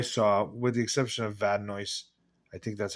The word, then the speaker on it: Vadnais: The most recognizable name I saw, with the exception of Vadnais. I think that's how you say it, Vadnais.